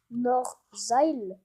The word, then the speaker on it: Norzail: Ça se prononce Norzail, comme Nord-Zail, voilà.